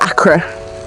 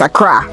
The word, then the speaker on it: Accra: so gar is from accra and which is the capital of uh ghana it's not akra for all you people trying to bastardize the pronunciation of the name is accra just god we've got